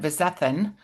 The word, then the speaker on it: Vizethann: We are here today with Chef Suzanne Vizthan. And Suz Chef Suzanne is I'm going to start over because I think I pronounced your name funny and then I was like, you said it perfect.